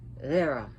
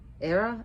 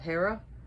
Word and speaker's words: Hera: on the Greek goddess era notice how I said Hera era instead of Hera because in Greek the um H is not pronounced so Hera is more of era ER so what is